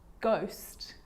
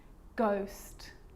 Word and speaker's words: ghost: or rare occasions it's not pronounced the h is silent so it's choir choir echo echo with a g ghost ghost and with an r rhythm or rhyme good